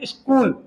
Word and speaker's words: स्कूल: स्कूल इसको स्कूल नहीं पढ़ रहे हैं।